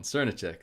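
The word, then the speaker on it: Srnicek: nick's turn to check yeah that's the one cernick that's how you pronounce it i know that certain check does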